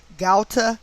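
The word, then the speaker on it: Ghouta: 4th 153 reverse ordinal gauta syria syria now g-h-o-u-t-a so i'm assuming it's pronounced gauta syria that equates to 153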